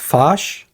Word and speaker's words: Foch: I think is it pronounced Foch? Mm-hmm. Yeah, which is okay.